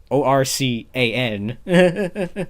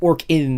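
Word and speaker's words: ORCAN: one and then i was or can uh o-r-c-a-n yes i know it's pronounced it particularly pronounced orc in as in like the orkin man but i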